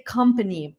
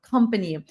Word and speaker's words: company: It we write company like months, right? Like months, but we don't say months, we don't say company, we say company. So, it's like a a sound, a short a sound, company.